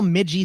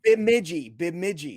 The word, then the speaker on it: Bemidji: Like, how do you spell Midgie State? I mean, Bemidji State. I think it's in Minnesota. Go ahead. Spell it.